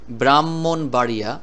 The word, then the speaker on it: ব্রাহ্মণবাড়িয়া: দুইটা ম হবে হবে এই হ উচ্চারণ করা যাবে না এরকম দুইটা ম উচ্চারণ করতে হবে শব্দটির মধ্যে তাহলে এই